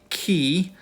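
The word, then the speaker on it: chi: is the letter Fe then we have the key and the key look notice it looks like our letter X but it makes the German CH sound as an A or um The lus Monster uh you hear that CH sound so that's the letter key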